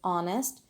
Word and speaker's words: honest: we pronounce it as honest it starts with the vowel sound instead of a consonant sound so we are using